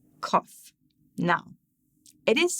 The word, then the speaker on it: Qof: further and say that phonetically, in English, it's the Qwa for queen, but it's said as a K for kick.